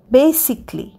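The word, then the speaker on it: basically: বি এস আই সি এ এল এল ওয়াই বেসিকলি বেসিকলি মানে মূলত বেসিকলিতেও এ উচ্চারণ হচ্ছে না লাস্টে সি এল এল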